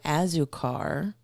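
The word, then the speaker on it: Azúcar: I'm pronouncing that right you're as right as it can be and be anglicized I think you have any the it's the Spanish word for sugar it's a Cuban bakery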